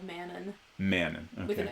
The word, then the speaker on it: Manon: Manon, okay.